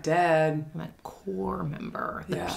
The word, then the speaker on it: corps: like, oh, you're a corpse member. And it's like, I'm not. No, I'm not dead. I'm a core member. The yeah. P is silent.